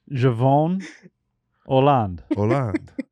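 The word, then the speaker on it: Jevon Holland: Yeah, I defer to Macon on the pronunciation. Go ahead. Javon Holland.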